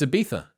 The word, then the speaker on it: Ibiza: You can't say Ibiza? It's Ibiza. Is it a th? It is for us.